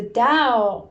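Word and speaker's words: Tao: the survival brain so the Dao it's spelled t-a-o is the way right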